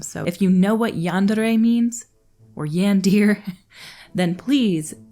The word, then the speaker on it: yandere: comments down below there's a Japanese word called yandere I believe it looks like yandir when I first saw it but I had